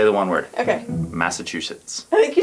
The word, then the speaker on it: Massachusetts: I will teach you. Mass. Chew. Sits. Massachusetts. Here, I will just sit in right here. I will say the one word. Okay. Massachusetts.